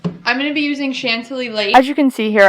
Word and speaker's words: Chantilly: going to use i'm going to be using chantilly as you can see here i was struggling with how to pronounce this but it's chantilly lace by benjamin